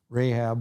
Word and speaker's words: Rahab: in the city of jericho famous name rahab rahab we usually pronounce it and what's fascinating is that this